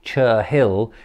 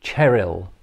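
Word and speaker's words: Cherhill: it's spelt this way chur hill it's actually cheryl i believe is how it's pronounced now of course when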